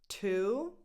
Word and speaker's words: two: 2. 2. And this is neither tu nor chu with the ch. The vowel is just a long oo sound, just like in the word blue, food.